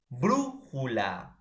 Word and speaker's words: brújula: Por ejemplo, tenemos palabras esdrújulas como brújula.